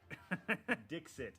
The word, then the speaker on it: Dixit: gosh this is ridiculous stick it dixit d-i-x-i-t is how it's supposed to be pronounced this actually is d-i-k-s-h-i-t